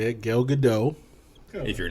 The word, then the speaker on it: Gal Gadot: not i don't care instead of saying her name is gail gadot or you should be saying gal gadot the actor showed me jimmy kimmel how to correctly say her name telling him to emphasize the t a bit more good i don't